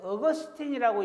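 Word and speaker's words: Augustine: 아우구스티누스, 즉 어거스틴이라고 영어로는 발음을 하는데요.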